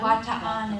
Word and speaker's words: Bataan: was, and So they say Bataan? Bataan is Okay. like how they pronounce it.